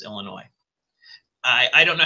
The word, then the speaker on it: Illinois: us how to pronounce Illinois I I don't know how many times I had elementary school teachers say there is no noise in Illinois well I generally mispronounce